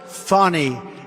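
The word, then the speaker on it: Fani: it's it's actually pronounced fonnie it's f a n i but you pronounce it fny a little French accent there funny but that's a terrible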